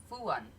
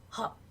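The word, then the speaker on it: Höfn: Now, how would you think that's pronounced? F-O with the 2 dots, U-N? Fuan. No. Hop. Hop. Hop. Like a bunny, hop.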